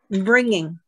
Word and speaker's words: bringing: up to that word bringing for me bringing okay in America a lot of times people will they will not pronounce it the ing that they'll bring in they'll get lazy with